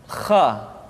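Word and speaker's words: خ: Kha dikeluarkan dari pangkal tenggorokan. Kha, pangkal tenggorokan. Diucapkan dengan mengalir nafas. Atau lebih praktisnya, pengucapan huruf kha persis terdengar seperti orang yang tidur dalam keadaan mengorok.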